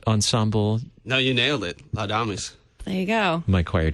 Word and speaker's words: Laudamus: connect speaking of translating words yeah have I mispronounced the name of this Ensemble no you nailed it lamis there you go my choir teacher would be would be proud lamus so what what is lamus what what is